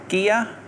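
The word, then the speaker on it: Gigha: I don't know how you pronounce it, but I'm going to go for Gear. You're going to go for Gear. That's how you say it? Yeah. Very good. There is Gear.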